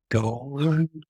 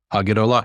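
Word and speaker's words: הַגְּדֹלָה: It's preceded by a vowel.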